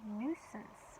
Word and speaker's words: nuisance: Number 19, a little different word here, nuisance is how you say it.